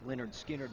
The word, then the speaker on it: Lynyrd Skynyrd: released its first album in november 1973 although pronounced leonard skynyrd was a hit the group wasn't taken seriously